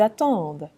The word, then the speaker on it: attendent: ENT, again, the ENT is silent, okay? And here's a regular RE verb, attendre. J'attends, tu attends, il, elle, on attend, nous attendons, vous attendez, ils, elles attendent.